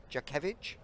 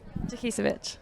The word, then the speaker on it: Jakisevich: We've also got Jakevich. Is it close? Say it properly for me. Jakisevich.